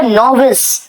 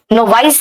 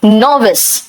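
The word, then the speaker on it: novice: बेटा नोविस, नोवाइस नहीं कहना, इसका प्रोनाउंसिएशन है नोविस।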